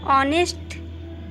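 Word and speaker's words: honest: एच का उच्चारण नहीं होता, मतलब कि एच साइलेंट होता है। तो यहाँ पे देखिए ऑनेस्ट, तो यहाँ पे ऑनेस्ट जो है, यहाँ पे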